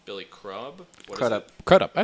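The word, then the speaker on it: Crudup: you guys remember Billy CR up yeah Billy crumb if it is crumb he doesn't have an m in his name or a b Billy crub C up cup I said it right correct yeah how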